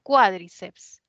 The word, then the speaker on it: cuádriceps: O sea, ¿lo lleva en la I o es más bien cuádriceps?